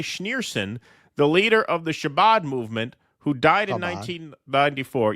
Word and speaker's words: Chabad: tomb of Rabbi Schneerson, the leader of the Chabad movement, who died in 1994. Yeah, I don't get the pronunciation right on those.